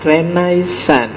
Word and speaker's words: Renaissance: ya renaisan renaisan itu istilah dalam bahasa Prancis bacanya agak sengau belakang yo kalau orang Indonesia sih enggak suka istilah sengau itu biasanya renaisan y renaisan kalau orang Prancis sendiri belakangnya mesti agak hilang renais jadi kalau kita nirunya